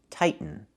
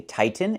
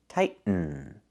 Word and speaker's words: tighten: The verb is pronounced tighten, not tightening. We cannot pronounce the T as a fast D. The word is pronounced two different ways. You can say tighten and make a real